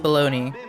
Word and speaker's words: bologna: That word is pronounced baloney.